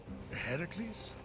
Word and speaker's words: Heracles: you doing there that thing with your voice heracles yeah that that is how it's supposed to be pronounced seems like a loving word but it's